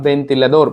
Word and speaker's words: ventilador: So here V sounds like V is equal to B in Spanish. Okay, so ventilador, por eso.